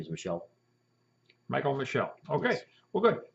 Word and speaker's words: Michel: call the shelf so my last name is Michelle Michael Michelle okay well good there you have